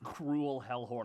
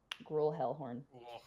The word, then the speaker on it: Gruel Hellhorn: I thought his name was Cruel Hellhorn. I'm like, ah, fuck this guy. Okay. Well, no, just gruel. You know, like grueling, torture, and punishment. Gruel. That's how you spell it. Gruel Hellhorn.